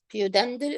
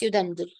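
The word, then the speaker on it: pudendal: Pudendel or Udendel. I don't know what which one you favor. Okay. But it's Udendel. The P is silent.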